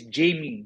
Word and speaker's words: Jamie: It's Jamie. Jamie, not Jimmy. That is Jimmy. I'm Jamie.